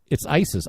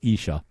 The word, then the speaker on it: Isis: That's not how you pronounce that, is it? It's ISIS, ISIS. No, it's Isha, who claims that she